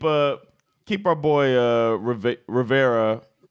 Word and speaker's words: Rivera: keep our boy uh Rivera it's a river how do you say his name I can't speak Ron Ron Rivera not Riviera Ron Rivera is going to